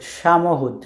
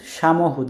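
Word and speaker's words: samochód: এই শব্দটার উচ্চারণ হচ্ছে সামহুদ, সামহুদ। দেখেন সিএইচ এর উচ্চারণ কিন্তু আমরা আগে পড়েছিলাম হি, তো হর মতো।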